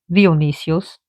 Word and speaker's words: Dionysios: Dionysios, he gets Dionysus. Dionysios, Greek pronunciation.